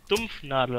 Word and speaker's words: Dampfnudel: Dampfnudel wird in der Region, aus der er herkommt, frag bitte nicht wieso, Dumpfnadel ausgesprochen.